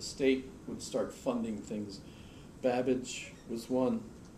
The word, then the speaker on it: Babbage: would start funding things Babbage was one his name rhymes with cabbage so it's easy to remember and other way Babbage created a really room